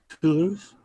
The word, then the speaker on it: Toulouse: Where the Airbus airplanes are made, is it pronounced Toulon? You know where the Airbus. Please spell it. Toulouse. Toulouse, yeah, Toulouse.